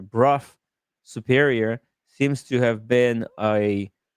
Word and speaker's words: Brough Superior: speak very highly uh oh sorry it's pronounced bruff Sorry. Bruff superior seems to have been a a big shot, you know, important motorcycle brand.